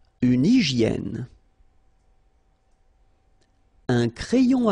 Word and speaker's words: hygiène: So remember we've got this Y here, vowel, and it's pronounced like E. E, okay? Hygiène. H doesn't exist, H doesn't exist in French, so hygiène.